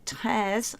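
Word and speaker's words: treize: French as I've said they say tears for 13 and 14 is cattles and 15 is cows and 16 is says but to put them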